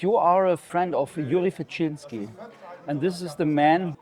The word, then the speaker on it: Yuri Rashkin: It's Yuri Rashkin. Or did I pronounce it right?